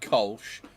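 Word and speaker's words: Kölsch: No, it's a cool ship, and it's pronounced Kolsch.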